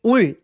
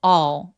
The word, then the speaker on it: all: all 이거 발음할 때 올 아니고요. 입술을 내밀지 말고 턱키가 걸려서 all all이라고 발음합니다. 엘바음 너무 열심히 발음하지 않습니다.